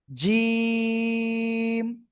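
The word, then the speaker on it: ج: উপরের 2 দাঁতের আগায় লাগলে কিন্তু হবে না। জিম, শক্ত আকারে উচ্চারণ করতে হবে, জিম।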